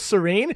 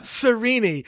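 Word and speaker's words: Sarene: a serenity chapter which i thought was serene because it's spelled serene but apparently yeah they would think that sirini which is a stupid name yes it is all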